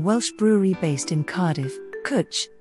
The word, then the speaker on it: Cwtch: This red ale is from an award-winning Welsh brewery based in Cardiff, Cwtch, which rhymes with butch, and means cuddle or cubbyhole, being what they won an award for.